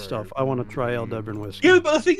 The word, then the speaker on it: Aldebaran: By the way, it's pronounced Aldebaran.